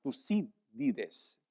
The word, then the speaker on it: Tucídides: En aquel tiempo surgió un historiador griego llamado Tucídides, con acento en la I para que sea más fácil, Tucídides, quien hizo esa declaración.